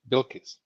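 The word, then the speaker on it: Bilquis: Paulo's going to have to tell me how to pronounce her name again. Bilkis.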